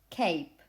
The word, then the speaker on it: cape: what happens is that this silent e even if it is not pronounced has an effect on the previous vowel and the result is that instead of saying a cap you say cape the effect is that